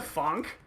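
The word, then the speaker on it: Phonk: yeah I'm really into Funk and I was like that came out of left field for someone that I'm listening to classical music with is that it's actually spelled with a pH it's p-h-o-n-k yeah okay because that's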